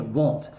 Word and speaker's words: won't: Inclusive, a pronúncia é want e aqui é won't.